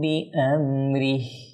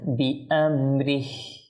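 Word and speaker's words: بِأَمْرِهِ: ফা'ফু ওয়াসফাহু হাত্তা ইয়াতিয়াল্লাহু বিআমরিহি। দেখুন এখানে এই হাতে আমরা ওয়াকফ করলে স্পষ্ট হাতা যেন বোঝা যায়, বিআমরিহি। আমরা যদি বিআমরি তাহলে হাত কোথায়? হাত একেবারে অদৃশ্য হয়ে গেল। বিআমরিহি হাটা যেন উচ্চারণ হয়।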